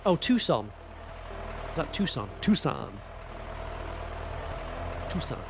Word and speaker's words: Tucson: Lanasher, Yorkshire, Tuxen. Oh, Tucson.